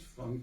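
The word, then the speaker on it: Francke: celui de August Herman Frank comme ça se prononce Frank du CK qui était fondateur de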